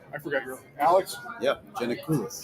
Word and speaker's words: Giannakoulis: Yep, Giannakoulis. Giannakoulis.